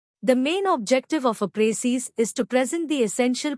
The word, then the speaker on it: précis: The word précis, pronounced précis, is a noun derived from the French word préciser, which means to specify or to make clear.